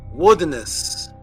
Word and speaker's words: Wodanus: So the way that Odin's name was pronounced, symbolized by the X, was Wodanus. Wodanus was the way that you pronounced what we're calling Odin.